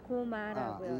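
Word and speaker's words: 高麗: 고려라고 써서 고마라고 읽습니다. 고마라고요.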